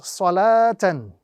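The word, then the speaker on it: صَلَوٰةً: no vowel on it, this is an indication again to us that this waw is going to be considered as a silent waw and must not be pronounced at any given point in time. So this word will be pronounced salatan. Salatan, without any form of pronunciation of the waw at all, because now the waw is considered to be a silent letter.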